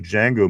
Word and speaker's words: Django: Let's go here to the Django. Move chains. Tortilla. The D is silent.